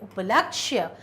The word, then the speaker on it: उपलक्ष्य: कब एत्री कब यात्री उपलक्ष्य उपलक्ष्य तो यहां पर या का उच्चारण भी क्लियर होना चाहिए उपलक्ष्य मेरे बेटे के जन्मदिन